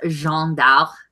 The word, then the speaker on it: Jeanne d'Arc: I took French for 2 years. It's Jeanne d'Arc.